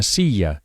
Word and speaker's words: silla: A chair is una silla. Remember that the double L is pronounced very similarly to an English Y.